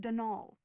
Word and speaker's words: Donal: not Donald mind you there's no D at the end so it's pronounced de nul that's the way you're